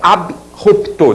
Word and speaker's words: abrupto: sem o if então deu margem a pronúncia Bru que tá errada é abrupto derivados também AB ruptela